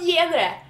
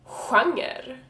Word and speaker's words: genre: But it's not pronounced genre, and that's fucking annoying. It is pronounced genre. So genre, G-E, is also pronounced like skjorta, schack, sjö, genre.